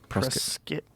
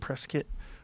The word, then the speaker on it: Prescott: it right I'm sorry press skit like biscuit Prescott press kit Prescott Arizona you'll get yelled at by the locals well